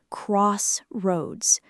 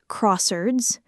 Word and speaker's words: crossroads: Both parts need to be clear. Crossroads. You want to feel both syllables land. Crossroads. Crossroads. And the first syllable carries slightly more weight than the second.